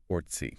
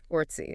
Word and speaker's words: Orczy: Because I read in an old copy of the Literary Digest that she insisted on the pronunciation Ortsy. Yes, Ortsy.